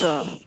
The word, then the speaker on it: official: The CI together is pronounced like sh. Yeah, here. Usually, CI is pronounced like an S, like this, right? But in this, Official.